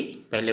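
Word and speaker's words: প: हिंदी और असमिया में फिर से, जैसे कि पहले बता चुका, हिंदी असमिया और हिंदी में असमिया अक्षर का उच्चारण लिख के बताऊंगा।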